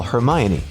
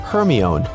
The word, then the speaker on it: Hermione: Call Hermione." only for Siri to comply with calling Herion.